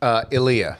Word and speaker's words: Elia: I've heard it pronounced different ways. Elia. What do you prefer? Elia.